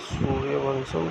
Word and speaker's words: सूर्यवंशम: सूर्यवंशम pronounced bye सूर्यवंशम translate solar dynasty 1999 Indian Hindi language action